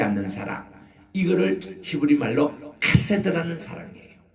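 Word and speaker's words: חֶסֶד: 이거를 히브리 말로 카세드라는 사랑이에요. 헤세드가 아니고 카세드입니다. 왜냐하면 케이스, 이거 히브리어로 좀 발음하기가 힘든 발음인데, 이게 가래가 끓는 소리가 나올 정도로 좀 이게 세차게 발음하는 거예요.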